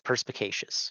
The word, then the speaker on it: perspicacious: Is that how it's pronounced? Perspicaciosity? So there's a word in the dictionary. It's perspicacious is the word.